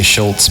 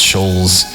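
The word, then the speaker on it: Schulz: how you say it some people say Schultz but I think it's schols but anyways uh This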